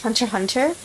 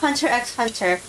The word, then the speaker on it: Hunter x Hunter: really like um is hunter hunter it's not hunter x hunter a lot of people pronounce it that way who we don't know